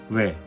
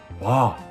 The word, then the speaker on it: 왜: Pour les différences de prononciation, à Séoul pour dire pourquoi, nous allons dire 왜? mais à Busan cela se prononce. 와, Pour dire nourriture à Séoul on dit 음식, et à Busan.